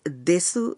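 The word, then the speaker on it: です: মনে রাখবেন জাপানি লিপিতে দেসু লেখা হলেও এর সু অংশের উকার অনুচ্চারিত থাকে। তাই এই শব্দটির উচ্চারণ হবে দেস।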